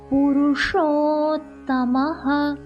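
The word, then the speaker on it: पुरुषोत्तमः: புருஷோத்தமஹ, show நாக்க மடிச்சு உச்சரிக்கணும். புருஷோத்தமஹ.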